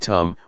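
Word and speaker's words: ธรรม: The dhamma, in Thai pronounced in the same way as the word tum, which means to do, refers to nature that exists by itself.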